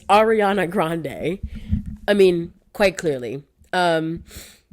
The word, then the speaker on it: Ariana Grande: right cu the first time I said her name wrong and they clocked me Ariana it's Ariana Grande I mean quite clearly um I I I'm